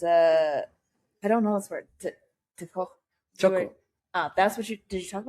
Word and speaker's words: txoko: Txoko. That's what did you talk about that? Yeah. Oh, okay. So txoko, it's spelled Txoko. In Basque language, we have 3 types of writing sound: TX, TZ, and TS.